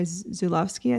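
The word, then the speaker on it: Żuławski: by Possession, I think by Zulawski, I think is how you pronounce his name.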